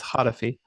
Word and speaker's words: Hatefi: It's Hatefi. Hatefi.